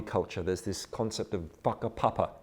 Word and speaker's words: whakapapa: It's a bit like, in Maori culture, there's this concept of whakapapa, spelt with a WH, though WH is pronounced with an F in Maori.